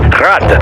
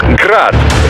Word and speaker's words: Grad: Technically, the UG's name is pronounced Grad, the Ukrainian way. But most in the business pronounce it as Grad, Russian style.